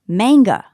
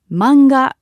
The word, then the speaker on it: manga: So, let's use the word manga, which means comic book in Japanese. In English, it might be pronounced manga. But in Japanese, we don't have that strong a sound. So, it's simply manga.